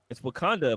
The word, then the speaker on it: Wauconda: It's Wakanda, but it's spelled WAUCONDA, and it's in Illinois.